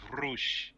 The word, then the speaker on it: Rush: It's Rush. Well, they should spell it with an O instead of a U then. No. You should start being a Hispanic and pronounce it like a Hispanic with Rush.